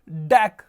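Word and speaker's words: deque: So DEQ is something like this, DAC, pronounced like DAC, double-ended queue, where you can insert element from front as well as rear.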